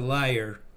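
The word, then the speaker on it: lyre: got an answer well we would call that a liar all right so now i know how to officially pronounce this then for yeah this is as as an instrument it's a liar but and there was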